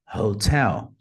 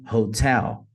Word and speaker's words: Hotel: para Viação vai ser Hotel notem que eles colocaram a sílaba tônica como a segunda então de maneira ideal isso aqui seria pronunciado taxi vai a Fox go Alpha Hotel Hot então a sílaba